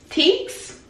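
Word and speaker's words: Tkees: Teeks.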